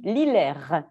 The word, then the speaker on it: Lillers: madame ristote je réajuste on dit lillers on ne prononce pas le r je faisais moi suis